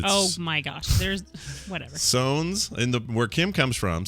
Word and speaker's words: Sones: Sones. S-O-N-E-S, like Jones with an S.